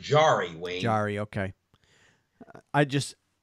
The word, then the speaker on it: Jarry: Tristan Jarry, or is it Jarry? I heard them pronounce it Jarry, Wayne.